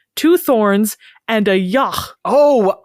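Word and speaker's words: yogh: and a yah oh I looked up yah that's how it's pronounced I thought it was I don't know something else well it is it's spelled with it's spelled y OG G so I thought it was yog or or Y maybe but it's y I think and it's s of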